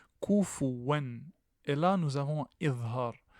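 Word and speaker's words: كُفُوًا: En fait, ça ne se lit pas de cette façon. Ça se lit avec une damma. Vous devez faire apparaître la damma. Kufuwan.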